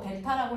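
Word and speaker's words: delta: 그래놓고 변화량은 삼각형 이렇게 써놓고 델타라고 읽어요. 델타 V.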